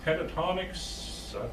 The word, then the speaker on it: Pentatonix: the TV and put in Karen's new visit Pentatonix that's how you pronounce it but Jeremy got Cameron that for